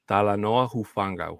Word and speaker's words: Talanoa Hufanga: to say it better than I can uh tala Noah huanga you got it yeah that's pretty good yeah talanoa hufanga who is the new safety for the Broncos